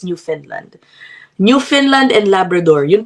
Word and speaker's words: Newfoundland: happiness can be forever Ang spelling niya new foundland pero ang pronunciation daw pala niyan guys no is New Finland new Finland and Labrador